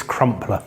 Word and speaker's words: Crumpler: It's Crumpler. Crumpler. It's an unusual one. I've been saying Campbell.